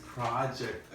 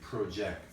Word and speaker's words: project: pronunciation I don't say project I say project so the spelling is the same but the pronunciation changes whether you're using it as a noun or a verb if it's a project